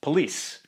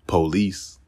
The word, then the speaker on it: police: this word is pronounced police in aave it's pronounced police actually the man in the recording stresses the second syllable but it's often stressed on the first syllable and as with some